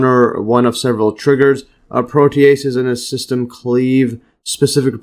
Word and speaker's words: protease: So basically precursors to hormones and yes so note here protease this right here pronunciation protease.